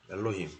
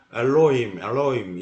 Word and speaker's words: 엘로힘: 별로 2심 이렇게 있습니다 엘로힘 잡어 뭐네 하겠습니다 엘로힘은 얼 + 물로 + 인입니다 이걸 서양사람들은 발음을 잘 못해요 그래서 알로이 roe 이렇게 하는데요 자 을은 으 어립니다 상세설명을 보겠습니다 히브리어 성경의